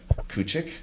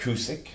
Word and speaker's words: Kucic: We have Kucic. Nope. Kucic.